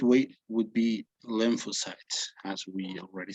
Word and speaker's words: lymphocytes: uh you're going to repeat after me the pronunciation okay it would be lymph lymphocytes right b lymphocytes and t lymphocytes right lymphocytes lymphocytes yes however